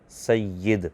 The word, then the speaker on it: سید: آپ فرماتے ہیں کہ اصل تلفظ تو زیر کے ساتھ ہے، سید، لیکن اردو میں یا کے زبر کے ساتھ عام ہو چکا ہے، تو یہ بھی درست ہوگا، کیونکہ غلط العام فصیح،